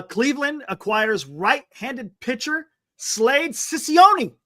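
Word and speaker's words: Cecconi: acquires right-handed pitcher Slade cision I think that's how you say it right is it Sone or cision how would you say that Glenn H oh Chone Chone okay and a I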